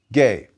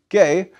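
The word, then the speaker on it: Gaia: conceived in the earth gay with a hard g in greek but in english we pronounce a g followed by e as g as in geology geography geothermal gay was a goddess in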